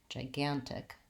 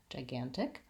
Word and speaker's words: gigantic: to make the difference so I have one jaw and one guy in gigantic so I'm gonna say Jai Jai gam tick lastly I have the vowel yeah and the case on at the end so I want to be short and light on the jaw and the tick gigantic gigantic what else